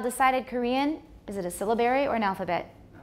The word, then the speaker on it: syllabary: syllables rather than segments stress is on the first syllable syllabary syllabary it's called a syllabary